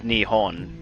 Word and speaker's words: Nihon: Japan's real name is Nihon ni h o n also which can also be spelled or pronounces nepo n' with a p instead of an H but yeah I always